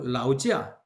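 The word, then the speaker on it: 劳驾: 그 다음에 라오지아, 老家 라오지아, 老老家家 지아 이러지 말고 라오지아.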